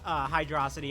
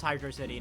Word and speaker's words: Hydro City: You know, I used to say Hydrosity as a kid, but I know it's Hydro City now.